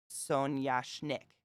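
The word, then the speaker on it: соняшник: Where do you put the emphasis on the syllable? It feels like Sonyashnik, but I'm just putting it there because I don't know anything but a little bit of Russian. Sonyashnik. So it's on the schnick.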